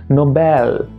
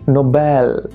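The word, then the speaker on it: Nobel: উচ্চারণটা হচ্ছে নোবেল। নট বেল। নোবেল। একটাই জিনিস শুধু মনে রেখো ই এল যদি লাস্টে থাকে দেন এল উচ্চারণ সেটাকে করবে না। সেটাকে আল উচ্চারণ করবে আল।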